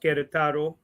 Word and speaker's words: Querétaro: He is of Mexican parents from Querétaro, pronounced Querétaro.